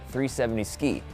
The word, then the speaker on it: 370Zki: and that's pretty cool it's called the 370z ki pronounced 370 ski and it has a